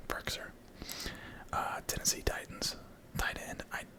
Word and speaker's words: Firkser: I think it's pronounced Frisker. I don't know. Firkser.